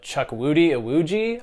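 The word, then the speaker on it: Chukwudi Iwuji: good Chris Pratt is I'm definitely about to butcher this actor's name but Chuck Woody awuji I believe is how you say it is great as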